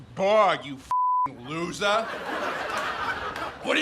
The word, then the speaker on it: BORG: First of all, it's pronounced Borg, you f***ing loser.